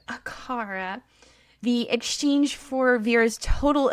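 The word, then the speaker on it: Acara: I said it just how the Neopets pronunciation British lady says it. Akara.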